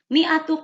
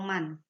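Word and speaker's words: مائة: Mi'atu qolamin, 100 pulpen. Min dibacanya ya, bukan mun atau man.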